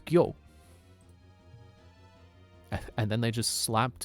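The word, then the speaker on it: 魚: One of several ways to pronounce this kanji is gyo.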